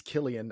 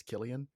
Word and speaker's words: Cillian: flag but it totally I think it's Killian I'm not trying to be that guy and correct you but I've always thought it was weird because it's definitely spelled like Cillian but I've multiple people have corrected me that it's Killian anyway uh I don't